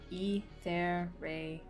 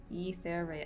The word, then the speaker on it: Etheria: it, and I'm like, it's just Etheria. Etheria. It's like ethereal. That's it. That's the It's essentially ethereal plus, which is like kind of like a nickname for me that I kind